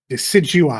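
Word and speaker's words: Decidueye: So, just do Des how do you pronounce it? Digui. Decidui.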